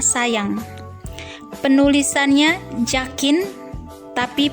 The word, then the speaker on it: sajang: dengan huruf j misalnya penulisannya Sajang tetapi pelafalannya sayang penulisannya zakin tapi pelafalannya